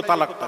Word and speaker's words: তালাক: একটা দেখাও তো দেখি তালাক না দেখ আল্লামা হুজুরের কিতাব নিয়ে এসে আমাকে দেখিয়ে দাও তল ল আকার তালাক তলাক তলাক নয় বাবা ওই তালাক এবার বাংলায় উচ্চারণ করছি